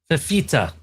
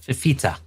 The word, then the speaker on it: Fifita: Fifita. That's how you say it. Fifita.